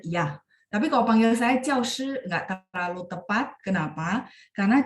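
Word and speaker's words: 教师: Nah, di sini kalau misalnya nanti ketemu kosakata ini, dia harus dibaca nada 4.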